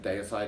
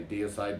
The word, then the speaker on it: Deicide: and that's of course day aside so some contention about the pronunciation i'm originally from australia so that's how i pronounce it day aside other people say dear side but anyway you all